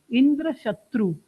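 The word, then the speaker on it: इन्द्रशत्रु: उसका अर्थ निकलता है सो आप तत्पुरुष समास में मींस आप दूसरा जो शब्द है उस परे ज्यादा स्ट्रेस दोगे तो इंद्र शत्रु इंद्र शत्रु ऐसा बोलोगे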